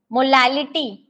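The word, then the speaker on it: molality: देखिए यहाँ पे रिटी और लिटी दो चीजें हैं। बोलने पर जब हम क्या करते हैं, प्रोनाउंस करते हैं ना, तो सिमिलर लगता है, लेकिन इट्स नॉट सिमिलर। इसका जो आपका साउंड है, आप ध्यान से सुनो, मोलैरिटी, मोलैरिटी और मोलैलिटी। एक में रिटी बोल रही हूँ और एक में लिटी बोल रही हूँ।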